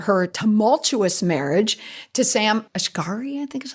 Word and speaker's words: Asghari: She talks about her tumultuous marriage to Sam Asghari, I think is how you pronounce it.